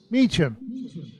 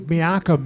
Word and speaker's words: Meacham: And underneath, it says pronounced Meacham. So that's good to know. Because I would hate to say like Miakum or something like that.